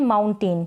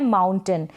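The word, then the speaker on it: mountain: इसको हम प्रोनाउंस कर देते हैं माउंटेन, क्या कर देते हैं, माउंटेन, लेकिन इसका करेक्ट जो प्रोनाउंसिएशन होता है वो होता है माउंटेन, यानी इस AI को हम अ प्रोनाउंस करते हैं, इस AI को आप अ पढ़ेंगे।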